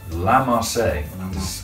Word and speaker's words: La Marseillaise: It is La Marseillaise. Apparently that's how you pronounce it, but either way.